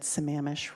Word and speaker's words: Sammamish: It was really nice to learn that Sammamish rhymes with lavish.